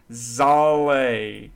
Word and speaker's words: Zalae: Without further ado, here is our first guest, Zalae.